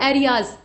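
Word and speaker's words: Arias: और director general का नाम इसमें देख लीजिए, इनका नाम है मिस्टर फर्नांडो एरियाज, ठीक, या एरीज भी कह सकते हैं। तो ये प्रोनाउंसिएशन का थोड़ा फासला होता है, जो अंग्रेजी के शब्द होते हैं उनको अलग अलग क्षेत्रों में भिन्न भिन्न तरीके से प्रोनाउंस किया जाता है।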